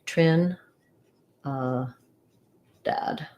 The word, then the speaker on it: Trinidad: then dad so i would write that like trin uh dad main stress there and then tobago uh second syllable stress letter a even though it looks